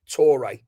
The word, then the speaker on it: Touré: left footed central defender Isaac or Isaac I ak tore spelled the same as ya ya tore or colo toé.